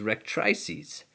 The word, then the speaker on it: rectrices: These flight feathers of the tail are also known as rectrices, sometimes pronounced as rectrices.